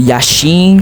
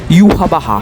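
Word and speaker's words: Yhwach: Yashim, não, se pronuncia yahá.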